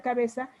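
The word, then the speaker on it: cabeça: Por ejemplo, aquí cabeca, se escribe así cabeca, se pronuncia cabeza, tiene una C con cedilla. La cedilla es una C como con una comita abajo. Chicos, si ven fútbol, por ejemplo, ¿cómo escriben Barça? Así del Club Barcelona. Con una C.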